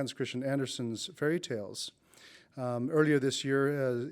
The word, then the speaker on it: Andersen: My topic is Hans Christian Andersen's fairy tales, and if I use the Danish pronunciation Andersen, that only lends more authenticity to my talk.